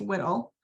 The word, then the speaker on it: WDL: This is going to be where you can find and configure workflows that are written in the workflow description language, or WDL, pronounced WDL, to analyze your data.